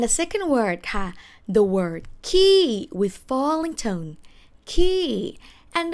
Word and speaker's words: ขี้: say pupu but the main word of this episode is the word ki ki falling tone which means alright